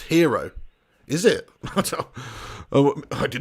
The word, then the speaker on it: gyro: um sunil mancad comments isn't gyro pronounced hero is it oh i